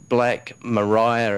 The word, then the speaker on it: Black Maria: a movie for of a bit word called Black Mariah it's actually pronounced even though it looks like Maria and